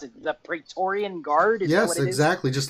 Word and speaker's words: Praetorian: the new Royal Guard right how do you pronounce it the Praetorian Guard yes exactly just like in room so